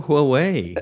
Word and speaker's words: Huawei: I was like, please please guys just learn how to pronounce Huawei. It's not that Yeah, just go Huawei, you know?